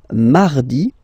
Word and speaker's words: mardi: Then mardi, mardi. So you can hear that you don't pronounce it that strongly, this R. Hein? Mardi, mardi, okay? You don't need to go too deep like mardi, no, no, no.